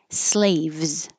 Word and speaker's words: slaves: Slaves. This S is a Z, so it is a kind of difficult V Z combination.